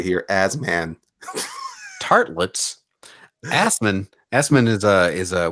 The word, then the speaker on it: Assman: Say here, Asman. Tartlets. Assman. Assman is a what nationality would Assman be? That's a great question. Let's read on. It is pronounced Asman. It is Asman.